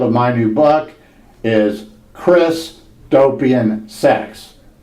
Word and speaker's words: Christopian: Again, the title of my new book is Christopian Sex. That's Christ, as in Jesus Christ, and opian. That's spelled O, P as in Paul, I, A as in Apple, N as in Nancy, as in utopian.